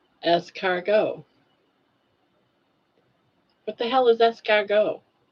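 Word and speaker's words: escargot: The T is silent on esargo. Essgo. Es cargo.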